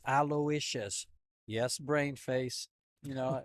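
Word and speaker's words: Aloysius: oh my God pronounce it how do you pronounce is it Elia yeah aous alious okay everybody says alious and no I asked him he goes it's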